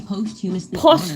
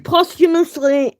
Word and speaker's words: posthumously: will be posthumously postumously. Oh my god. A posthumis award. They decided posthumously. Post humus postumously.